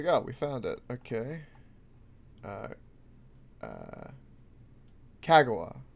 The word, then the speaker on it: Kagawa: Kagawa, probably is how it's pronounced. Kagawa. Kagawa is probably how that would be.